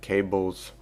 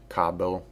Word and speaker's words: Kabel: now let's focus on cables or Cobble how everyone pronounce his name I don't know the English sounds like cable and the Slavic or you know non-englishes Cabo which is correct now once he captures